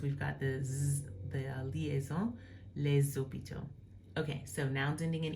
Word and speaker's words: hôpitaux: Again, here there's no need to because we've got the liaison, les hôpitaux.